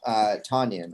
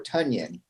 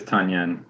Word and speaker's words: Tonyan: Why did you drop Tonyan, or Tunyon, I think is the proper way to pronounce it? Yeah, it is Tunyon.